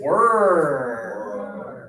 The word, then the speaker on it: were: Okay, this one here is were were. So for this one, we have to think about our lips again. We're now going to push them forward and open.